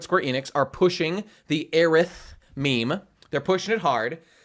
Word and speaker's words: Aerith: And in Japanese, you'd pronounce it Earisu or Earithu, because S-U and T-H-U are like the same sound effect in Japanese.